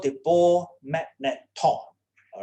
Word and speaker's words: magneton: Don't spell it as magnetron. It's not magnetron, it is magneton, all right?